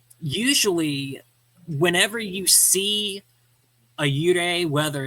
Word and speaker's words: 幽霊: computer and the airwaves, it's pronounced, in Japanese, it's pronounced Yūrei. But if we Anglicized it, it would be Yūrei. So that's spelled Y-U-R-E-I, Yūrei.